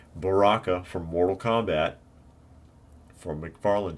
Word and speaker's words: Baraka: mortal kombat line and this is bakara or baraka i'm sorry i said it wrong baraka from mortal kombat for